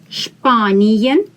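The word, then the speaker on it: Spanien: with ian spaniyan spanian s before p is pronounced as spanian spain italian italian italy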